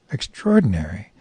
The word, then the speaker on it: extraordinary: I used the adjective extraordinary, to which he astutely replied, that's another word that bothers me. Extraordinary. Well, I replied, it's just 2 words put together, but not pronounced the way it's spelled.